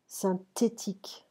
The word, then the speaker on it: synthétique: The TH is a T. Synthétique. It's like we say that, but there is an H here.